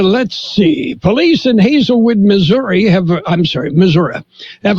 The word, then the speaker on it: Missouri: okay Buffett yes let's hear it for Hazelwood Missouri I in there it's pronounced Missour Missour yeah okay and oh fat